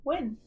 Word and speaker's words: Nguyen: I can't read that, but in English it is commonly win.